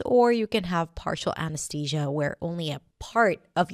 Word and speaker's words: anesthesia: The first word is anesthesia. Anesthesia. You might even hear people saying it with a T sound, 'anesTesia', but usually it's pronounced with a TH. A-n's-thee-juh.